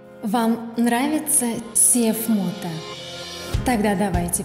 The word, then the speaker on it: CFMOTO: Вам нравится CFMOTO? Тогда давайте произносить его правильно. CFMOTO. CFMOTO. CFMOTO.